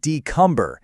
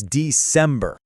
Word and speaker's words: December: So, it's not decumber, it's December.